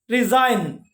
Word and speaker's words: resign: Resign, G silent, resign.